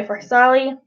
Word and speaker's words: Farsali: Okay, so the next primer that I'm using is my Farsali.